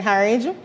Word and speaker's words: Harriage: My name is Harriage.